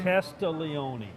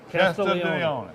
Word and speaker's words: Castiglione: G-L-I. G is silent. The G- Casti? Castiglione.